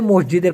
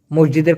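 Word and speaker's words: masjid: দোকানের বদলে দোকানের বদলে মসজিদের কথা বলেন মসজিদের কথা বলেন সেক্ষেত্রে মালয়েশিয়ান না মসজিদকে বলে মাসজিদ মাসজিদ উচ্চারণ বানানটা এরকম হবে এম এ এস জে আইডি মাসজিদ মানে এস কে ওরা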